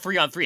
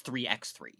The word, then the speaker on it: 3x3: It's not 3-on-3. It's 3x3. That's how it's officially pronounced. That's upsetting. It's terrible, but that's how they pronounce it.